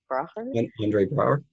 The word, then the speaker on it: Andre Braugher: him, was, and I'm going to say his name wrong, but Andre Braugher? Andre Braugher, yeah.